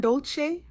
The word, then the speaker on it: Dolce: I'm your host, Dolce, pronounced dole like sweet softness whispered in French.